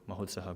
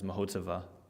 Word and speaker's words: Mahotsaha: our beloved Mahotsav Prabhu, Mahotsaha Prabhu. The rest of the world knows him as Mahotsava. They're messing up the last syllable, ha, Mahotsaha Prabhu.